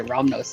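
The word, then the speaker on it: Rahnos: his name was Ramos romnos Brothers yeah like r-a-h-n-o-s yeah I would say romnos is a pretty weird name this is how uh Justin told me to pronounce it was okay gotcha all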